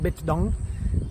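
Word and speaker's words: Bích Động: it in my head, when you say it kind of like that with that a little bit of a Vietnamese inflection, bitchdong, it sounds okay. But if you say it like dong, it sounds it sounds more vulgar.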